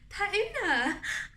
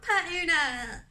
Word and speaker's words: Per Una: oh look at this per una i love pertuna she pronounced it all foreign she's actually french or